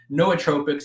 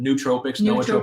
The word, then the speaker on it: nootropics: think better perform better no tropics it's actually where you pronounce it nootropics however you want to pronounce it it's n-o-o-t-r-o-p-i-c-s but it's kind of a cool